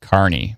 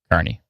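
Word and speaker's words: Kearney: Oh, Kierney is pronounced Carney by the locals. Oh, Carney.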